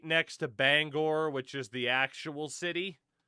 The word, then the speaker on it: Bangor: even consider a city because Bangor, and no, it's not pronounced Banger.